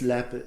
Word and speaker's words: Leap: And it's Lep. It's spelled Leap, like leap.